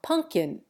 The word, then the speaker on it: pumpkin: pronounce its final T, but we drop the second P from pumpkin and change the M to N.